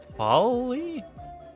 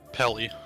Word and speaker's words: Pelly: then Polly? Pelly. Pelly, that's what it was.